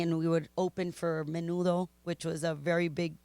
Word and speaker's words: Menudo: no it's not the menudo was a big group it was a big singing group like is it the same pronunciation as the soup yes what the heck I